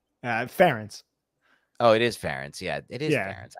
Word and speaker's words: Ferentz: Hey, I don't pronounce that right. Ferenz? Ferentz. Oh, it is Ferentz.